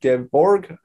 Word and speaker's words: Gevorg: My name is pronounced Gevorg. I've had many variations of it, but that's the correct way to pronounce it.